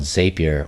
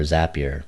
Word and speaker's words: Zapier: using a tool called Zapier or Zapier. People pronounce it differently, but the play on words here is in the middle of the word is the letters API, right? See, Zapier, API.